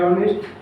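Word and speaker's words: honest: और अब H से है ऑनेस्ट, लेकिन क्या साउंड क्या आ रहा है? ऑनेस्ट, ऑनेस्ट और तो इज एन।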